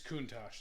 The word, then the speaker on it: Countach: It's Countach, that's how you say it.